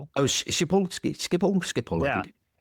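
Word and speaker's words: Schiphol: Do you know how to pronounce it? Shipole. Oh, shipole. Skip all skipp.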